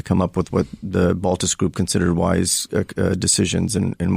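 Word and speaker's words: Baltes: Another pioneer, and I'll probably mispronounce his name, Paul Baltez? Baltez, yeah.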